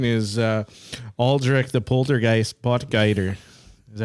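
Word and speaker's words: Potgieter: The other young guy want to mention is uh Aldrich the poltergeist poter. Is that how you say his name? Poter. Boter.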